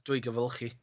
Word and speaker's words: Dwygyfylchi: That's Dwygyfylchi.